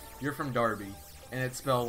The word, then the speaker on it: Derby: it's like you're from Darby and it smelled like derby like it smelled like the Kentucky Derby obviously derbies pronounced Derby not Darby's you don't call the Kentucky